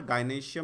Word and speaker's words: gynoecium: ये गाइनेशियम की स्पेलिंग होती है गाइनोसियम, ECIUM, गाइनोशियम, ठीक है ना, GYNOECIUM, गाइनोशियम।